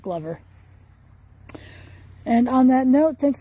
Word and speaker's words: Glover: Spelled Glover, I know, but it is pronounced Glover.